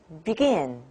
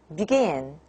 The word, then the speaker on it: begin: look at these words when the word stress is on the second syllable like begin begin and you can hear